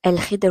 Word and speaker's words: Khidr: Il y a également l'histoire de Moussa El Khidir, je sais El Khidr, je crois que ça se prononce comme El Khidr, oui, c'est bien ça.